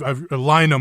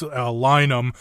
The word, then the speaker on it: Lynam: I've Lynam. I don't want to get the name wrong, and a lot of people do. It's Lynam, but like line them up.